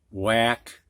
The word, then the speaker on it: whack: couple of these words three of them actually have a silent h when whack wham you don't hear the h it is silent and the next thing